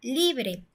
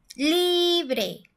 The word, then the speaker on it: libre: Y por último, tenemos el ejemplo de la palabra libre. Libre. Si fuera la última sílaba, diría libre. Y nosotros decimos libre. Entonces, la sílaba tónica está en la li.